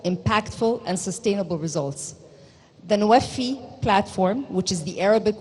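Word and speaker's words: NWFE: Egypt's country platform for the nexus of water, food, and energy, pronounced NOAFI, was launched in July of 2022.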